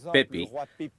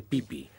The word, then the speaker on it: Pepi: los dos por ejemplo el rey pepi leído correctamente debería pronunciarse pipí por razones de corrección